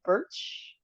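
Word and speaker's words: Bertsch: Waiver wire pickups: Morgan Birch. That's how you pronounce her name.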